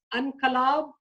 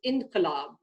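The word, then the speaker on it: انقلاب: to point out that I could pronounce that word as unkalab, unkalab, but because I know that there is an inflection there, it tells me that the correct pronunciation of that word is inqilab, which, by the way, means revolution.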